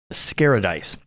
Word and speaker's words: Scaradise: at a convention called Scaradise. So it rhymes like paradise.